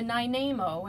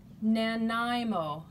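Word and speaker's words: Nanaimo: no we went to nine Namo and we always say it wrong and I think I just said it wrong again it's called nanimo Nan IMO never can get it right anyway we got fuel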